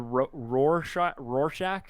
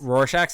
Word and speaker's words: Rorschach: The Rorschach test. Rorschach test.